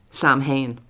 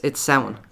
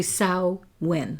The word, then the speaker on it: Samhain: pronounce the word Samhain as Samhain. That's not right. No, it's Samhain. It's basically Samhain.